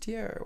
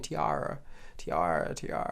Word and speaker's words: Tierra: And it's just Tierra Whack. And he just kept saying Tiara.